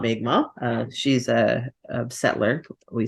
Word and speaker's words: Mi'kmaq: The how do you pronounce their name again? Mi'kmaq.